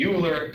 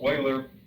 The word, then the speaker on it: Euler: a one time a math student said you're mispronouncing his name mr freer so i was always saying euler he said it's euler but he's one of the most prolific mathematicians